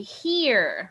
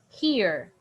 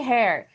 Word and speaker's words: here: stayed very good played stayed it's the same pronunciation okay now this one we say here repeat with me here here here okay don't say hair here here okay now the next one is